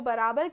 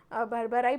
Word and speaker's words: बराबर: मैं पहले ना इसको भरभराई प्रोनाउंस करती तो मेरे दिमाग में अभी बैठा है इट्स बराबर केव इं्रिप्शन।